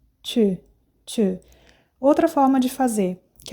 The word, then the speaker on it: tu: Faz a boca de O e fala I. Tu, tu.